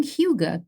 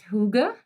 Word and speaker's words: hygge: Is it pronounced hygge? Very close. Hygge. Hygge. And actually, if you ask the average American, they put a y into it.